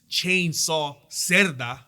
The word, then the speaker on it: Jesus Cerda: He is Jesus Cerda.